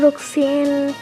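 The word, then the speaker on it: Roxanne: Last episode में हम लोग ने अब शायद मैं प्रोनाउंस करना जान गया हूँ, रोक्सेन।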